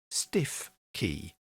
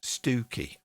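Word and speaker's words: Stiffkey: that is written out as if it was pronounced stiff key. But it's not pronounced stiff key at all. It's pronounced Stooky.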